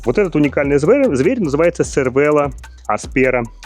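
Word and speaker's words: Cervélo: Новый аэрогравиник от канадской компании CVella. И да, да, я уже знаю, вы пишите в комментариях, из культурных пишет правильно читается Cervellла.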